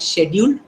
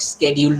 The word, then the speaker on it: schedule: you can call it schedule you can call it scheduled also so schedule is british pronunciation schedule is american pronunciation okay so from 10